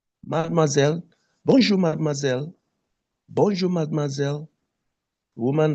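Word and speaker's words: mademoiselle: You call Madmoazelle. Madmoiselle.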